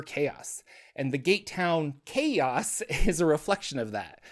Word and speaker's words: Xaos: but it's spelled x aoos uh but it's pronounced chaos I I I believe I've mispronounced it in